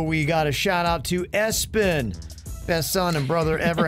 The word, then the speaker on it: ESPN: ESPN is how it is spelled. So pronounce Espen.